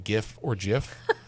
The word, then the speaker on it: GIF: That's a J. It's clearly GIF."